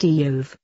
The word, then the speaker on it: Job: term job mean hated the name job is pronounced diov even though it appears just like what we call our work here was job perfect and